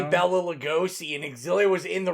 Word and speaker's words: Bela Lugosi: As someone that watched 8 million featurettes, there was an argument that it's Bela Lugosi.